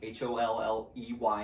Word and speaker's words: Holley: The range that we went to was Holly Gun Range. Sounds like the Christmas holly, but is spelled differently. It's Holley in Gatesville, Texas.